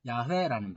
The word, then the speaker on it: 야훼: 야훼라는 발음이에요. 근데 그 야훼를 영어권에서는 제호바라고 번역을 했고 그 제호바를 그대로 한국어로 이렇게 음을 바꿔서 부를 때 여호와라는 말을 쓴 거예요.